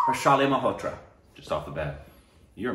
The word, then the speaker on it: Harshali Malhotra: Harshal, forgive me, I want to pronounce it right. That's an I, right? Harshali Malhotra. Yes, Harshali Malhotra.